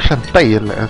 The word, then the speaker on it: Shantae: Yo le digo Shantai, así lo dicen cuando empieza el juego.